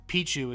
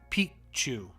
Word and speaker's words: Picchu: and Pichu means like Mountain but it's not pronounced Pichu it's pronounced piku so piku like piku cuz Pichu means a